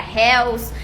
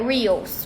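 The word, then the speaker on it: Reels: eu falava tudo errado eu não sabia será réus se era rios então mas na verdade se pronuncia a pronúncia correta é hills oi e aí a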